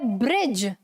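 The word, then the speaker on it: bridge: ब्रिज. ब्रिज. ठीक है, यहां पर भी ये जो डी है वो साइलेंट है, हेज में भी डी साइलेंट है और एज में भी डी साइलेंट है.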